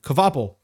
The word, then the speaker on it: Kvapil: And Carson Kvapil in, how do you pronounce that name? Kvapil.